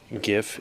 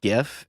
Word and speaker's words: GIF: people online happy that he said GIF and not GIF, although the creator of the image format wants you to say GIF, but everyone calls it GIF, right? Hard G GIF.